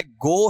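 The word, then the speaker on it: go: तो यहां पर ये हो जाएगा गाउस। इसको बोलना सीख लेना, मैंने शायद आपको पहले बता रखा है, ठीक है। इसका उच्चारण बताओ क्या है, गो है या फिर गौ है,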